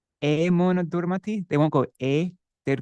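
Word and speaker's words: এমন: But you'll hear many Bengalis, they won't say Emana Durmati, they won't go they'd go Amon Durmati. Like in hat and cat, Amon Emana Durmati Sangsara Bhitore.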